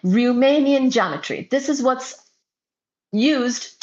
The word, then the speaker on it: Riemannian: Once again it is R I E M A N I A N Romanian geometry.